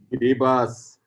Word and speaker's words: Kiribati: Anand, how do I pronounce that? Kiribati.